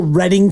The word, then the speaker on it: Reading: calling it the wrong how do they spell Reading California do you know 2D correct cuz that's how you pronounce reading okay out in Pennsylvania when you have re e a d i n g that is what we all learn to do in Monopoly reading I